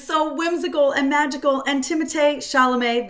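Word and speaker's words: Timothée Chalamet: Whimsical and magical and timate shalam that is how you say his name I've just learned it is not Timothy uh I he's just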